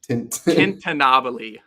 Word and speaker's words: tintinnabuli: How do you pronounce it? Tintinnabuli.